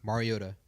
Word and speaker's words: Mariota: Mariota, depending on how you pronounce it.